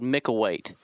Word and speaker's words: Micklethwait: It's called Micklethwait, and so it's spelled Micklewait, and the TH is silent.